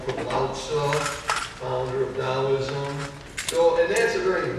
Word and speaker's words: Taoism: As you pronounce it, the T's is D, so it's Taoism.